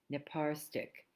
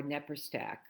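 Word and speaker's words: Naparstek: uh Bell Ruth b-e-l-e-r-u-t-h nepar stick or nepper stack they pronounce it two different ways but n-e-p-a-r s-t-a-k I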